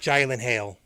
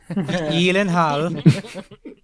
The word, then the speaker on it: Gyllenhaal: pronounced Gyllenhaal. So Gyllenhaal.